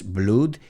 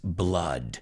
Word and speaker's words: blood: No es blood, it's blood.